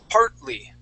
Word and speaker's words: partly: it anymore okay so when I say that word I say part partly part partly try that